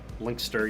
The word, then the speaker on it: Lancaster: in the UK or if I remember the way that you're supposed to pronounce UK place names it's legster Lancaster linkster you don't pronounce any of the middle still available place names